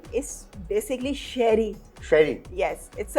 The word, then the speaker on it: Cherie: क्योंकि लोग जो है इसको चेरी प्रोनाउंस करते हैं। हाँ। और इट्स a French name, it's basically शेरी।